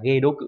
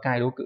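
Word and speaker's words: げどく: Và đặc biệt trong từ giải độc, đọc là ghê đố cự, chứ không đọc là kai đố cự nhá.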